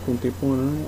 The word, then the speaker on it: contemporânea: A antepenúltima sílaba tônica, que é acentuada, e a contemporânea é uma palavra paroxítona, terminada com ditongo.